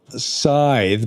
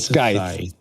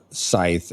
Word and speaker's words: Scythe: Um, uh, he teaches us, uh, expeditions, which is, if you've ever played, uh, I know it's Scythe, but, I like to pronounce it sky, which is a stonem game.